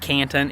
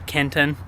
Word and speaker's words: Kenton: you to know that it's not Canton it's Kenton but anyways kitten uh that's